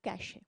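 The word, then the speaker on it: cache: कैश memory से निकलती है। तो वो किसके लिए? कैश पैसे वाला कैश नहीं है, it's only the pronunciation, CASH, कैश, पैसा।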